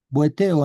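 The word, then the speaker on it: βοηθέω: La palabra es socórreme y es bonceo, o en realidad es boitei, ya, boiteo. Boeteo en realidad se pronuncia.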